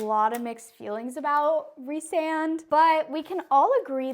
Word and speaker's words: Rhysand: I'll go ahead and put the full name for y'all, Rhysand. Yes, that is how you say it.